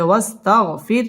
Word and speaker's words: واستغفر: تشديد ولا حرف ربك ওয়াও ঠোঁট গোল করে উচ্চারণ করতে হবে ওয়াস্তাগফির র বারিক হবে ওয়াস্তাগফির এখানে ওয়াকফ করতে হবে فسبح